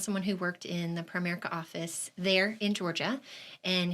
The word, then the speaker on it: Primerica: um you are the regional vice president of prime America here in the area yes it's actually pronounced Primerica Primerica okay yeah and I run the Ocala